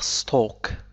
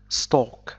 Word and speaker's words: stalk: stalk هو ساق النبتة، تنطق stalk stalk، لا ننطق هذا الحرف L، مثل talk walk stalk.